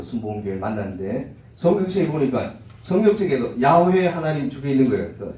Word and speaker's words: 야훼: 혹시나 순복음교회 사람들이나 아니면 미국 기독교 방송인들 보시면 야훼 하나님 이렇게 나와요. 최근에 들어가지고 사람들이 연구하다 보니까 발음이 여호와가 아니고 야훼가 어떻게 보면 옛날에 읽었던 발음은 야훼가 맞았더라.